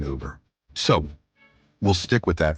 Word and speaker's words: Uber: So, yes, I know some people pronounce it Uber or even Yuber, apparently, but I like the 100% French style pronunciation Uber.